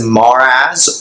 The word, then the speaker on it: Marax: Marax, pronounced as Maraz or Maraz, can bring perspective to